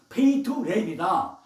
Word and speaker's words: 베들레헴: 베들레헴이라고 하다 보니까 베들레헴을 다시 원어는 베이트레헴이다.